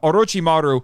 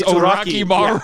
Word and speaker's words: Orochimaru: But no, they say Orochimaru completely wrong. They say it like dirty, dirty Americans who don't know what they're saying. They don't even try to say Orochi. It's Oraki. It's Oraki Maru.